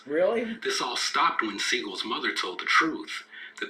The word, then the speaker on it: Seagal: But here's where things get interesting during Seagal's role as the sensei. Oh, and if you wonder why I keep saying Steven's last name is Seagal, it's because that's the actual proper pronunciation of his name.